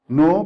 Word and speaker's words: know: alphabet K here K no you okay so know becomes a new so this the the a